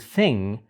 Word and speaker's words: thing: that's happening next and in the word thing you're actually not pronouncing the G but you are doing this sound right here which is o thing we will talk more